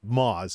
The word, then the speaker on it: Muaz: See, since Jake from YouTube follows them, this Muaz, Moz is actually how you pronounce it.